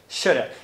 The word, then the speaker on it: should've: no final das contas, sabe o que ele fala? Ele fala isso aqui, ó. Shoulda. Então, esse palavrão que você está vendo aí é pronunciado com apenas 4 fonemas. O sh, o r e o a. Shoulda. É isso que ele fala.